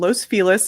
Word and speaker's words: Los Feliz: If you guys aren't familiar with us, we're in the neighborhood called Los Feliz. It is pronounced that way, though there is much debate about that, in Los Angeles, California.